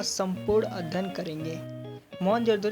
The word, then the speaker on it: मोहनजोदड़ो: जिले में स्थित है मोहनजोदड़ों शब्द का सही उच्चारण मोहनजोदड़ों भारतीय पुरातत्व सर्वेक्षण के